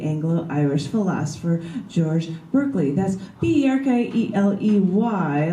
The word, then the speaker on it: Berkeley: That's B-E-R-K-E-L-E-Y, like you're barking, Berkeley, you're barking up the wrong tree.